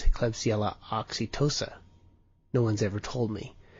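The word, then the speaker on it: Klebsiella oxytoca: And so a beer that a cause of hemorrhagic colitis is klebsella oxytoca. And maybe that should be a soft C and it's Klebsella oxytosa.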